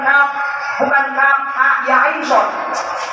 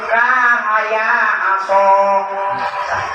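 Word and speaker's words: كهيعص: Ini kadang-kadang bacanya bukan kaf, ha, ya, ain, shad. Bismillahirrahmanirrahim. Kahaya aso.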